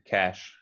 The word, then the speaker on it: cache: say this one but we come and say it in portuguese as cash cash exactly exactly cash just like money cash cash cash cash